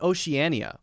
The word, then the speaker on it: Oceania: with four syllables okay now how about Oceania how many letters does it have OC e a n IA okay so that's a seven syllable word right now let's count how many syllables it has mmm-hmm five syllables five syllables so it's a pretty